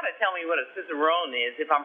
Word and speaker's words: cicerone: and you've got to tell me what a cicerone is if i'm pronouncing it correctly oh you're right on the